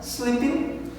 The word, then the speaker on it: sleeping: O ing, lembre-se que a gente não pronuncia esse último G na frase, sleeping, né?